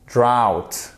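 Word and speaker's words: drought: pas confondre les deux draft la sécheresse drawt c'est le même son que vous avez c'est celui-ci que vous avez dans out drawtworld ok craft et ça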